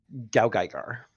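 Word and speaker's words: GaoGaiGar: once a year every year H it is G gar g gar I have not seen it g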